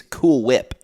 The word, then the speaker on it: Cool Whip: It's Cool Whip. Yeah. Cool Whip. You don't pronounce the H.